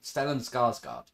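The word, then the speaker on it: Stellan Skarsgård: like stellen yeah stan stellen skarsgard is the way i think it's pronounced if i'm wrong if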